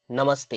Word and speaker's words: नमस्ते: है ना तो जैसे इधर देखिए नमहते नमस्ते इधर क्या हुआ त के साथ उसका मुलाकात हुआ उसके पास कौन कौन है? त है। है ना? तो नमः ते में यह नमस्ते हो गया।